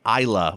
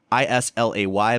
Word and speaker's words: Islay: is what's called an Isa whiskey it's it's spelled is l a y but it's not islay it's not ilay it's Isa and that is a